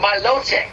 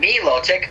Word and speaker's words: Milotic: I heard whoa no I literally said my low check that's how it's pronounced not Milotic Milotic yeah that's what